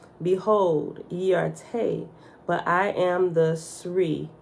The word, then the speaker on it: Tau: Te is spelled T-A-U. It could be Tau, right? In Hebrew, I think it's Tau, but I said Te.